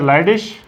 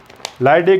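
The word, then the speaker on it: Leydig: These are लाइडिश, ये सारे लाइडिश हो गए। बाकी ये लाइडिक, लाइडिश आपकी मर्जी है जैसे प्रोनाउंस करें।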